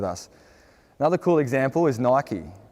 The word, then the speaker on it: Nike: Another cool example is Nike. Do you say Nike or Nike? It's Nike.